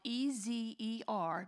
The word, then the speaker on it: ezer: Actually, in the original Hebrew, the word helper or helpmeet is a word called ezer, and it's spelled E-Z-E-R, but it is it sounds, you pronounce it as ezer.